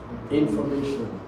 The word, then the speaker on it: information: Every word that ends with shen shen shen the primary stress is on the syllable before the shen. Now let's give me a word that ends with shen information in for now what do we do first?